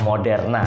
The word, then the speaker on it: Moderna: Jadi teman-teman, vaksin ketiga ini yang digadang-gadang adalah vaksin dari perusahaan Moderna, ya, atau bacanya Moderna ya.